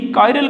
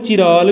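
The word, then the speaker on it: chiral: कायरल carbon तुसीं कई बार इनू चिराल भी सुनोगे, पर एग्जैक्ट प्रनाउंसिएशन इहदी हुंदी कायरल कार्बन।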